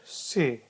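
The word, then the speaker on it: ث: Then we have got a letter with 3 dots. It is letter se.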